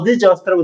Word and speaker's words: adjust: D가 묵음이에요. 오케이. 발음할 때 듣기 들으면 adjust라고 들리지 않고 두 단어처럼 들려요. 마치 하나의 단지 이런 식으로 adjust라고 들립니다.